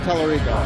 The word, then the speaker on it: Tallarico: Tallarico.